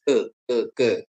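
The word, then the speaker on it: καί: Kalau dalam bahasa Yunani itu ditulis ke, kai. Tulisannya kai ya, bacanya ke gitu ya.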